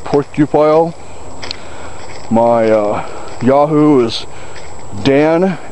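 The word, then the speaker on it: Porcupile: just my name last name spelled p o r c u p i l e pronounced pupile my uh Yahoo is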